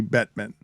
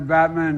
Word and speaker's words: Bettman: a young man yeah and emphasizing the wrong syllables that's correct and joe biden says this while talking about nhl commissioner gary bettman i want to thank commissioner gary batman and for being here as well it wasn't